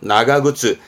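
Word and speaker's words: 長靴: 우리는 장화로 읽어요. 근데 일본 친구들은요. 긴 신발로 읽는 겁니다. 그래서 발음은 나가그츠. 길다의 나가이의 나가 해서 나가그츠.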